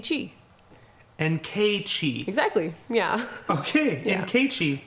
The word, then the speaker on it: Nkechi: Nkechi. Exactly, yeah. Okay, Yeah. Nkechi. Mm-hmm. And then my last name is just. Like Irish, but not Irish, right? Yeah, like, yeah. Nkechi.